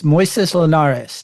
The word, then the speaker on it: Moisés Linares: It's Moisés Linares. Did I pronounce that correctly?